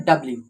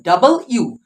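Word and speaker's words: W: করে থাকি সেটা হলো এটাকে কি বলি আমরা ডব্লিউ ডব্লিউ ডাব্লিউ তো নয় এটা এটা হলো ডাবল ইউ ডাবল ইউ কে ডাবল করে দাও অর্থাৎ ডাবল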